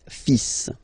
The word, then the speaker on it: fils: So it's le, and then even if you've got this L, well, basically you don't pronounce it, and then strangely you pronounce the final S. Le fils.